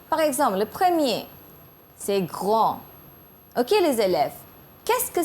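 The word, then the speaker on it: grands: On ajoute S, mais ça se prononce quand même grand. It doesn't change the pronunciation.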